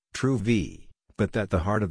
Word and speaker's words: Truvy: today that they have rebranded to truvi pronounced true v but that the heart